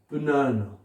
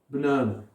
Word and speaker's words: banana: deuxième syllabe, troisième syllabe, la syllabe qui suit ce symbole est accentuée. Banana, banana. I'm eating banana, banana. Est-ce que vous entendez la deuxième syllabe accentuée?